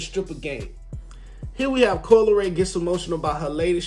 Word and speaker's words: Coi Leray: Coi Leray. Coi Leray.